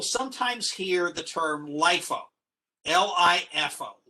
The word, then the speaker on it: LIFO: hear the term lifo l-i-f-o l-i-f-o is pronounced lifo it stands for last